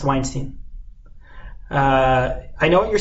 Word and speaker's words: Weinstein: is Harvey Harvey Weinstein it's pretty nice not Weinstein is what Stein is a Jewish guy no no it's pronounced Weinstein I know what you're saying but I'm looking